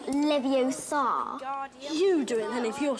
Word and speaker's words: Leviosa: you're saying it wrong it's leviosa not leviosa you doing then if